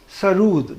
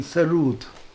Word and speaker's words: Sarod: Sarod is a Persian word which means music. Nagma, Tarannum, Musiqi. Sarud, that is the actual pronunciation, Sarud.